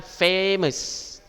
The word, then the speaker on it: famous: Oke, nah di sini misalnya famous, nah kan bacanya ada penekanan di awal suku katanya. Apa awal suku katanya? Loh, huruf F sama A, famous, famous. Iya, penekanannya di V ya, famous.